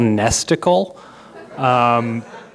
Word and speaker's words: Nesticle: This is called Nesticle. It rhymes with a certain piece of anatomy that about half the world's population has.